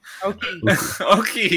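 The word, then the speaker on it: Ouki: Oki, yes. I always pronounced it Ueki, but yeah.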